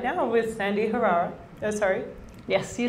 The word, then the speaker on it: Sandi Herrera: I'm actually sitting here right now with Sandi Herrera.